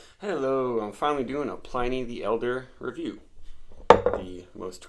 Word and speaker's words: Pliny: two weeks old and apparently it should be pronounced Pliny at least a historian would say a little